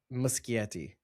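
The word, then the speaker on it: Muschietti: It is by the way musetti. Just want to say that. I actually wrote down how to pronounce it. Muskieti. That's what you were saying, right? I spelled moose and then key and then yeti like the mythical creature talking about.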